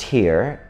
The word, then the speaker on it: hir: the the 9s one because it's pronounced here and um I I